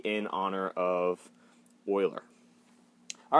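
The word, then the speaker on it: Euler: ending just like Oiler number e it's not pronounced uler it's Oiler okay so natural logarithms they have base e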